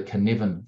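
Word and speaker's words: Cynefin: by a guy called Dave Snowden called the canivan framework it's a Welsh word so I'll spell it c y NE f i n and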